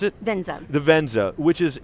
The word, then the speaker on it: Venza: vienza oh the benza yes that's how you pronounce it the Venza which is it's kind of a cross between